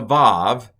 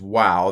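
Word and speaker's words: וָו: and, or it's a vav. The older pronunciation is wow. That's probably how they said it in Bible times.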